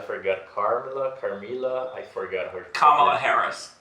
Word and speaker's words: Kamala Harris: We were talking about Donald Trump, Barack Obama, and what is the pronunciation of I forgot. Carmila, I forgot her. Kamala Harris. Kamala Harris.